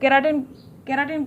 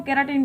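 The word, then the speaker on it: keratin: उसको हम कहते हैं केराटिन प्रोटीन। आप कैरोटीन भी बोल सकते हो, केराटिन भी बोल सकते हो, लेकिन केराटिन सही है। ओके, प्रोनाउंस करने के लिए सो आप केराटिन ही बोलिए।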